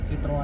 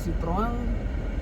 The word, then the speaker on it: Citroën: French France France Fran Citroën Citroën dibaca Citroen kalau Citroen Citroen atau apa sitro sitro sit sititroen sitroen sitroen karena kalau bacanya sitroang tulisannya harusnya belakangnya ada T-nya ini enggak yap baiklah baiklah